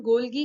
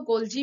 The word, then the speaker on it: Golgi: इसका नाम गोल्गी क्या है, कुछ लोग इसको गोल्जी भी कहते हैं, तो अपने हिसाब से आप इसको प्रोनाउंसिएट कर सकते हैं।